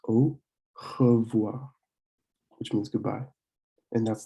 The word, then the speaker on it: au revoir: So it's O, and then you have revoir. With the O and the I, it's like a wa sound. So it's au revoir, which means goodbye.